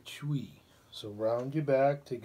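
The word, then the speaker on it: chui: the kidneys sound is chewy like c-h-u-i okay this one put the feet together you wrap your hands around your knees and you make the sound chewy like c-h-u-i chuwi so round your back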